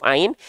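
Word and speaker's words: عين: Ulang lagi, pastikan ketika teman-teman melafalkan huruf ain dari tengah tenggorokan teman-teman sekalian, ya, dari sini ya jalurnya itu mengikuti jalur garis biru putus-putus. Tengah tenggorokan, rongga mulut, ke luar mulut. Sehingga bunyinya seperti ini. A, I, au, ba. A, I, au. Itu adalah pelafalan huruf ain yang insya Allah lebih sempurna.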